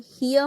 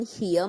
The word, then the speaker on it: hier: Okay, here means here, H-E-R-E, here. The pronunciation is here. Here sound should come little. Was kann man hier machen?